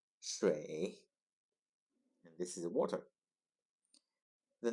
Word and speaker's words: 水: Its pronunciation is 水, 水, 水, and this is water.